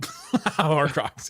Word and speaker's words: Horcrux: I feel like I'm throwing away a part of me, like it's a Horcrux. How do you say it? Horcrux, yeah.